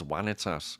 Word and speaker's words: vanitas: you, but technically it's vanitas. The V's are pronounced as W's.